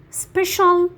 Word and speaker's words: special: So when the C sound has two or more vowels, we pronounce it as sh, okay? Like ocean, financial, special, and precious.